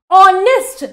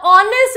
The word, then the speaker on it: honest: see for the sound honest now honest is starting with o H is silent here or an O is